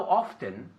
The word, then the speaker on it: often: Y hay gente que se come la T. Entonces, how often. ¿Ves? Entonces, tú decides. Es que he oído los 2 de nativos y se puede decir los 2.